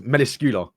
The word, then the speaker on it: Melascula: What Melascula? Yeah. So apparently the right way is Meliscula.